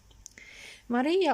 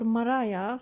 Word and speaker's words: maria: pictures of the Moon Maria or Moriah for some pronunciations as well large dark flat areas